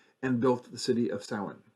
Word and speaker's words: Samhain: built the city of Samhain. Although in Manx Gaelic, Samhain is actually pronounced Savan, S-A-V-E-N pronunciation. But since the character of